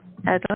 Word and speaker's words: Adalynn: Is that how you Adalynn, pronounce the movie? Adalynn, yes.